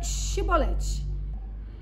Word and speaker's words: chibolete: de Gileade lhe diz então diga chibolete se ele dizia sibolete não podendo pronunciar corretamente a palavra eles o agarravam e